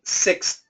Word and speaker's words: sixth: going to pronounce everything six six six so you hear that s it's really strong six and then we hear a stop you don't really hear